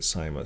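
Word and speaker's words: Seimas: and and uh that's how you say it simus so according to that the resolution says that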